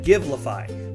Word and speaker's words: Givelify: go to your search bar and type in give lafai that's spelled GI ve li FY you'll get results